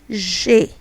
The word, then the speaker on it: G: Then we have G, that is pronounced J. J. Imagine that you're trying to say J in English but without stressing on it. So J.